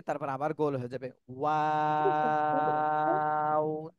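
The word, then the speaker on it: واو: ওয়াও।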